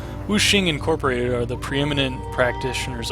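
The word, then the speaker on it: Wuxing: needs a helping hand wooking Incorporated are the preeminent is it it's probably wooing isn't it I've been pronouncing that wrong like for years now it's awful woing Incorporated are the preeminent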